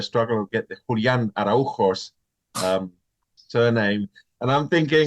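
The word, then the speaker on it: Araújo: Now, we had a Portuguese player in Atlanta with the last name, but he pronounced it Araujo. That sounds about right. The J is different.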